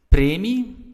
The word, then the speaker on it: premie: Premie, which is like a bonus. Premies, you just add an S. Life is great, life is fantastic. Premie, or stress is on the first part of the word.